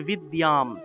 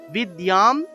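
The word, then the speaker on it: বিদ্যাং: যে জায়গাতে জ ফলা পাবো সেই জায়গাতে ইয় উচ্চারণ করব তাহলে বিদ্যাম বিদ্যাম দেহি নমোস্তুতে এখানে দেখুন একটা হ এর মত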